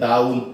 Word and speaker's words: down: इसका उच्चारण की है डाउन, आउन, डाउन। कई बच्चे इसमें भी डॉन बोल देते हैं, डॉन कहते हैं सिट डाउन। सिट डाउन नहीं, सिट डाउन। ये डाउन है, आउ साउंड है, ये ओ साउंड नाल है, ये फर्क है।